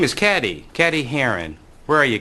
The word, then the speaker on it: Cady: one her name is caddy caddy Haron where are you caddy that's me it's pronounced like Katie which fictional characters names